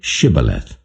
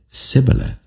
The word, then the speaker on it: shibboleth: they said all right say shibboleth if he said sibyleth because he could not pronounce the word correctly they seized him and